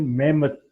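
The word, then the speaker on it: Mehmet: तुर्क लैंग्वेज में मोहम्मद की प्रोनाउंसिएशन मेहमत के नाम से होती है, तो कहीं मेहमत लिखा हो तो इससे मुराद आगे लास्ट में डी के बजाय टी आता है, टी फॉर टॉयज, तो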